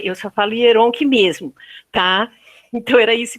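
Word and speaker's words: Oyèrónkẹ́: Mas, enfim, eu falo Yoronke. Embora que não é Yoronke, porque é um acento agudo, seria Yoronké. Mas eu não consigo falar Yoronké, eu só falo Yoronke mesmo, tá?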